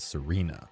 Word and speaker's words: Sirena: both Italian and Spanish, although I also really like how it still makes sense even when pronounced as Serena, being phonetically similar to the word serene.